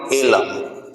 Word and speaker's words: Eelam: तो liberation tiger of Tamil एलम। एलम का spelling होगा EELAM, एलम, ठीक है ना।